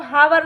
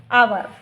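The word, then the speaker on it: hour: पर इसको यूज़ करेंगे, तो यहाँ पर इसको हावर न पढ़ते हुए इसको अपन पढ़ेंगे आवर।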